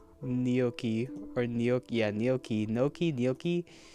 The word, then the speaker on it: gnocchi: Noki? It's Noki? What? Oh, heavens above. Not Noki. Gnocchi. Or gnocchi. Yeah, gnocchi. Gnocchi. Oh, brother. Nahaki. It's only getting worse. Nahaki. Gnocchi. Okay, gnocchi.